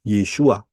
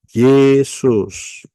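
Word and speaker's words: ישוע: ya yotsin W Ayin Bacanya adalah yesua yotsin wo Ayin tidak bisa dibaca Yesus pahami baik-baik ya tidak bisa jadi bacanya harus pakai Ibrani enggak bisa pakai Indonesia nama juruelamat yang disediakan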